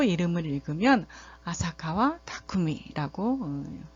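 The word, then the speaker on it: 浅川巧: 분이에요 써 1번으로 그 번씩 발음으로 이름을 읽으면 아사카와 타쿠미 라고 발음을 하면 되겠어요 그래서 마지막으로는 그 전체적으로는 이제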